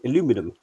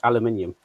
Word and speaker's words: aluminium: We don't we generally in North America, we don't pronounce the I in aluminium, but yeah, in uh original proper English, they do.